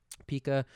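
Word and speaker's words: Pica: I agree I want to move on to Pika is that how you say it yep Pika a four cost six thousand power uh donkey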